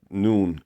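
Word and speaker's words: نون: going to be m-e-e-m so noon is like noon n-o-o-n so that's how you pronounce the noon uh the wow is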